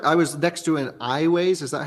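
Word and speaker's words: Aiways: I was next to an iWays. Is that how you say it? iWays, yes.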